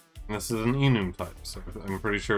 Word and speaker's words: enum: everyone says the nume because everyone knows that it's short for an enumerated uh type anyways let's see well